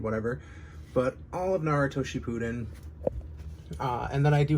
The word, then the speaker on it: Shippuden: want to pronounce it I always thought it was weird to call it Shippuden because it's like but what did she poo in um so I've always just said ship it in just a I guess